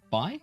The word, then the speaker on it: Bai: Okay, so we have Barry and is it Bai? Am I pronouncing that right? Yeah, as in like boy, bye. Bai.